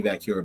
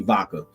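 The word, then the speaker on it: Vaquer: And Stephanie Vacura comes to. By the way, I said Stephanie Vacura because on Monday night, Michael Cole wanted to smack the shit out of you because your ass said Stephanie Vaca.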